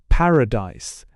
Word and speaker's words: Paradise: Instead of making two separate tales of them in telling the story, one has to slur over the pronunciation of paradise, making the last vowel short so as to explain the misunderstanding about Paris.